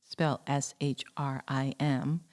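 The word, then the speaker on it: श्रीं: I want to remind listeners that the seed or bja mantra for Lakshmi is shelled s h r i m and pronounced shrim.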